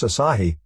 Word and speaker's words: Asahi: sleeper as a reverse asahi pronounced like the beer ddt the next experiment